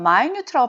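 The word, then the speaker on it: minute: 이렇게 자이 단어는 여러분 우리가 1분 2분 할 때는 원미투니지만 형용사가 되면 마이뉴트라고 발음하셔야 되고요.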